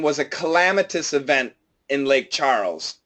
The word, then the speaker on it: Lake Charles: welcome yes in this in this area to lake charles Oh board Oh coach can you it and teach me please how to say these words shalom's spell it ch arma2 Charles yes Charles is because this is the name of the